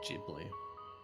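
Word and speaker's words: Ghibli: I still can't believe it's Jibli. Jibl annoys me so much. It should be a hard G.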